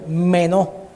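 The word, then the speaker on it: μένω: Esta palabra permanecer, del griego menó, con acento en la E, menó.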